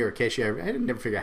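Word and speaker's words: CATIA: specific industry spaces right like like like Kat Katy or kesi I never figure out how you pronounce that and Pro Katia okay there you go see I wasn't even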